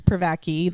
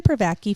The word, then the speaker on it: Privacky: You know, I'm pretty sure it's Pvaki. That's how I heard it being pronounced.